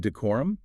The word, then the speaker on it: decorum: Then we have decorum pronounced decor with clear emphasis on that second syllable.